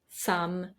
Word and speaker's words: some: For example, words like come, done, some, money, honey, mother, brother, oven, these are all pronounced with the sound A, not the O that you see in the writing.